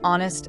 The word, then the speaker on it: honest: umbrella, an engineer, an honest person. Notice something important here. We said an honest person. Why? Because the H in honest is silent.